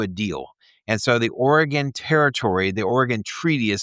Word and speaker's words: Oregon: that it it was just stressed that it it wasn't pronounced Oregon. So all the people uh out by Oregon. Yeah. Yeah. We have a t-shirt that that phonetically has Ori and then a gun after it.